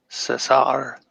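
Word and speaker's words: César: Cesar. Cesar. Cesar. You have to roll your tongue.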